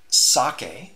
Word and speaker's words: psake: down that world there's sake just I believe how it's pronounced is PS a ke was introduced in